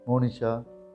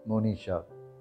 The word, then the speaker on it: Monisha: we pronounce the name there are two ways of pronouncing this name Monisha or Monisha Monisha or Monisha the difference is in the short KN versus the long KN presenting the meaning of